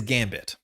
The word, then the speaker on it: Gambit: I want to say this as gambi because in French when a word word ends with a t like this you do not say the t. It is a soft t.